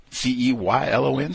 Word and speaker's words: Ceylon: C-E-Y-L-O-N, still learning? What's the correct pronunciation?